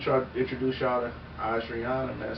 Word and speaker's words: Ojrianna: Yo, man, let me try to introduce y'all to Ojrianna, man. Say hello to the people, man. Well, my name is Ojrianna. Ojrianna, you know. Oh, no. Oh, I said O first? Yes, it's Ojrianna.